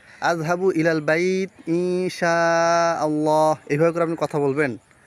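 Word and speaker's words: إن شاء الله: আজহাবু ইলাল বাইত ইনশাআল্লাহ আজহাবু না বলে আজহাব ইলাল বাইত ইনশাল্লাহ বললেও হয়ে গেল মানে শব্দটা বুঝা গেলেই হলো তো আরবি উচ্চারণ করার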